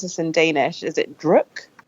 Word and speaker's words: Druk: It's called Another Round, or how do you pronounce this in Danish? Is it Druk? Druk.